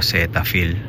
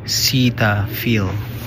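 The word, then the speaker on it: Cetaphil: o 6 I ba sa Pilipinas ang pronunciation natin dito ceta Fil dito sa America pronunciation nito is zet Fil yun yon tayo zet Fil eh ' ba dito seita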